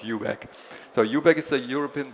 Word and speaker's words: eu.bac: eu.bac, eu.bac, that's a completely new pronunciation. Never heard it before. Normally people call us eu.bac. Especially people from UK like to call us eu.bac because they think eu.bac sounds somewhat rude. Normally we call ourselves eu.bac.